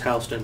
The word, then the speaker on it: Houston: No, it's pronounced Houston, dude. Like, but it's spelled Houston. It's pronounced fucking Houston.